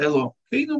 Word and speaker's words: Элохейну: Тетраграмматон мы читаем как Адонай, да, и слово Элохейну мы читаем через Эй.